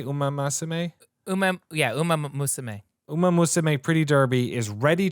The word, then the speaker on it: Umamusume: Umamusume.